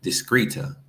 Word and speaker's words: discreta: It's not discreta. It's discreta. Recuerda que la H es muda. We pronounce this one hortera.